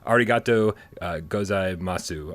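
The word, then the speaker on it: ありがとうございます: It's a bit, whoa, arigato gozaimasu. I'm probably got that wrong. Hashtag higher pants for AJ. Did I pronounce that totally incorrectly?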